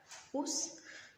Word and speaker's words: housse: Donc housse عندنا في الفرنسية ما تنطقوش اش مي en anglais تنطقوها.